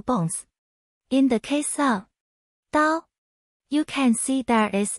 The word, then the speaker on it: 刀: In today's video, we'll teach you the Chinese character for knife, pronunciation. Dao.